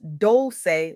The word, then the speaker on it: Dolce: I'm your host, Dolce, pronounced doulce like sweet softness whispered in French.